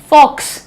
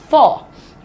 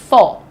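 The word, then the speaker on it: faux: फॉक्स फॉक्स नहीं है ये। This is फॉर। Right? What is the pronunciation? फॉर।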